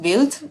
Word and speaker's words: Wild: And yeah, fun fact, it is it is in in German it's it's pronounced built.